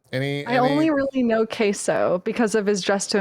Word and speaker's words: Queso: So we got Queso, I think is the Queso, pronunciation.